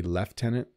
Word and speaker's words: Lieutenant: yes so Colonel um Lieutenant sometimes in Canada we say leftenant which I don't know where that comes from very British no